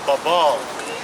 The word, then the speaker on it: Babel: definition here it's um a hebrew word and it's called babel right that's what they call it or babal that's the real pronunciation and it means confusion